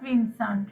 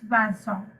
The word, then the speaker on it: Vincent: julie julian virgini anne it's not bandsaw this is not vincent right it's banson julie julia vargini and